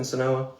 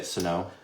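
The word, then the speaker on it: Senoia: Sonoa? I say it Sonoa or Sonoya. I never say Sonoy. Okay, so he says it two different ways, and they're both wrong.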